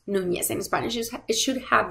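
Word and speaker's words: Núñez: We want to type the last name Nunez. It's pronounced Nunez in Spanish.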